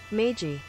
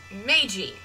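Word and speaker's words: 明治: Meiji. You're right, Meiji! Meiji. Meiji. So the J-I is more of a G-E in our sound.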